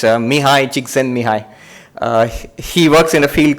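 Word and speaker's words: Mihaly Csikszentmihalyi: One of the other psychologists working in this field, his name is unpronounceable. It's Mihai Csikszentmihalyi.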